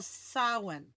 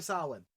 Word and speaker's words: Samhain: Halloween began as a Celtic festival, Samhain. No, it's not pronounced Samhain.